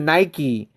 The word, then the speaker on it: Nike: Europeans, right? We pronounce it Nike. Do you guys pronounce it Nike? I heard it's pronounced Nike.